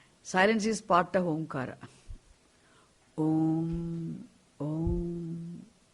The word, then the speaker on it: Om: Om, Om, When you say that Om consists of 3 sounds, Akara, Ukara, Makara, 2 syllables and 2 vowels and 1 consonant. Actually, it's 1 syllable. It's a monosyllabic sound.